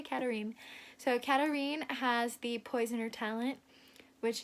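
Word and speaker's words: Katharine: Katerine, it looks like Catherine, but I watched a pronunciation guide by Kendar Blake and it's Katerine, but she doesn't care if you say Catherine, so I'm gonna say Katerine. So Katerine has the poisoner talent, which is she can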